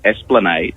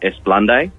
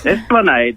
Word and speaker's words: Esplanade: corrected me, was the Esplanade. It's a street in Semaphore. Yeah. And for many years, I pronounced it Esplande.